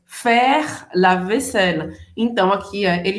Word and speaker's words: faire: Em francês, faire. Faire. Presta atenção na pronúncia, a gente não vai pronunciar esse E no final. Faire termina no R.